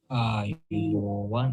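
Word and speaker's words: ආයුබෝවන්: Notice the correct pronunciation and speak after me. Ayubowan.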